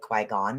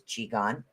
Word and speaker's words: Qigong: most people call it Qui-Gon, but it's Qigong, is the way that it's actually pronounced.